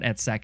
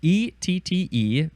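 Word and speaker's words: -ette: word is a suffix e TT I would just pronounce that ET and it's a noun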